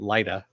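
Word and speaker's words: Lyta: Connerly deck, you know, it's ly ta but they pronounced it lighter because That's just the way it is It's all sci-fi crap and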